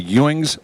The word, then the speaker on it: Ewing: You have or had what's called a Ewings sarcoma. Yep. Can you tell us what a Ewings sarcoma is? It pronounced Ewing? Mm-hmm. Yep. Ewings. Like J.R. Ewing?